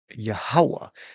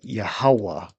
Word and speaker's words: Yahawah: We got Yahawah. All right. The J this would be a Y a H A W A H. Yahawah. All right. So that's the name of the Yahawah the father.